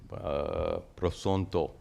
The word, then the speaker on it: Prasanto: In Sanskrit, Prashanta. Prashanta means peaceful. In Bengali, Prasanto.